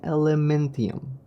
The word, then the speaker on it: Elementium: it's called Fe flame how you say it flame Elementium okay I think that's